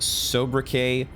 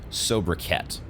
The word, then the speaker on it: sobriquet: According to Copilot, it could be pronounced sobriquet or sobriquet.